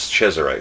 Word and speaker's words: Cesare: And some Americans say Cesar, but the actual Italian pronunciation is Cesare, so I'm trying to get it right.